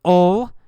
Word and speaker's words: 'll: We say ol instead of will. We say ol. Jim'll. Jim'll. The man'll challenge him. Jim'll fight him. We don't say Jim will. We say Jim'll. Jim'll.